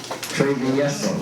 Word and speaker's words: Travieso: Travieso? Travieso.